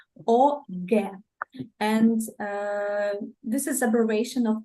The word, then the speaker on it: OGE: OGE, this is the way it is pronounced in Russia, please. OGE.